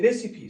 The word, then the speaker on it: Recife: गोमुत समझ तथ जाय उस नाव रेसिपी RECIFE रेसिपी समझ यह रेसिपी फनम्बको उसकी प्रोनाउंसिएशन है शाबाश यह फनम्बको ब्राजीलस बह कर